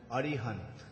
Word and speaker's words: Arihant: Actually, they pronounce his name as Arihant. But Bhagavatam describes him as King Arhat, which also means Arihant, you can say.